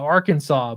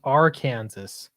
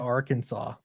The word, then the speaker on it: Arkansas: that just seems wrong nobody nobody in arkansas calls it our kansas right i've never heard anybody say that it blows my mind what about arkansas i don't know that's